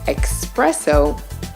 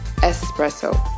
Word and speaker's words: espresso: a bit less excusable many Americans make the mistake of adding an extra letter to this word which often leads them to say expresso instead of its proper pronunciation espresso proscription going to